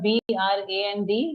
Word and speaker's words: brand: This word brand is pronounced as brand. Brand. Yeah, just like how we say and, same way we say brand.